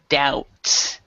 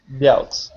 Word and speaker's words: doubt: word doubt here instead this B is silent so whenever there is a b before a t it is silence so in this one we would say doubt doubt doubt yeah okay all right